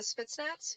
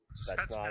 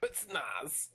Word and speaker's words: Spetsnaz: The Spitsnaz, is that how you say it? Spetsnaz. Pretty close. Spetsnaz.